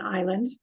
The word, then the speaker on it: island: s in there because the S is silent I grew up on an island so um I'm quite